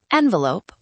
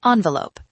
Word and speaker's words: envelope: It can be said two ways, envelope or envelope. Both are correct.